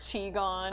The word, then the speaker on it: Qui-Gon: Okay, this whole page, Qui-Gon. Oh, all right. It's pronounced Chi-Gon.